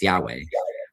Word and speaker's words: Yahweh: So what happens is that Like in particular, there's the personal name of Israel's God, which is given 4 Hebrew letters, which would be YHWH, usually pronounced Yahweh.